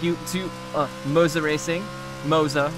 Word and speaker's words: Moza: to uh moza racing moza we're gonna we're gonna say it how they say it moza racing for all the